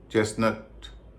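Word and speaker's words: chestnut: उच्चर नहीं होता बिसल कासल इन सब में भी टी का उचार नहीं होता विसल अपोल चेस्टनट मॉर्गेज इनम भी टी का उच नहीं होता अभी आपने ऐसे शब्दों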